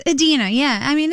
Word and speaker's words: Idina: up they give you a phonetic spelling David pronounce it Edina but Dena it's Edina yeah I mean it's close it's just you